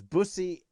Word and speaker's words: Busi: from douglas okay so i've probably been pronouncing it incorrectly so it's bussy jacobson yeah there we go